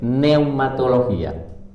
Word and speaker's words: neumología: neu mato los días se escribe la primera con p en la primera p neumología vale y es el estudio